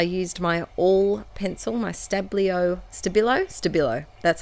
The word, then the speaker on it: Stabilo: Then to my little tiny word stickers, I used my all pencil, my Stabilo, that's how you say it, Stabilo all pencil,